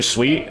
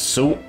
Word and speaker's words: Suit: the name this time i usually say leisure sweet i just realized that it's soup so uh yeah let's